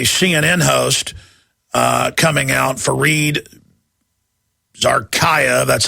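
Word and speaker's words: Fareed Zakaria: we've got a CNN host uh coming out fared Zaraya that's how you pronounce it uh we've got him and we've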